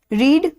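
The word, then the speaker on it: read: हैं रीड रेड रेड तो रीड spelling same ही रहती है प्रोनंसिएशन में चेंज आता है द बुक इज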